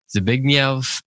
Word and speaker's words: Zbigniew: It's Zbigniew Herbert. It's spelled Z-B-I-G-N-I-E-W, and then it looks like Herbert.